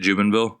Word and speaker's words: Jubenvill: Is that how you say it, Jubenville? Yeah, Jubenvill. Okay, hell yeah. It's used to be a little more French, but my family dropped it.